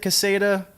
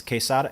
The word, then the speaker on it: Quesada: Joe Casa de Quesada I think he pronounces it casada but if you're pronouncing in Spanish its Quesada anyway he he invited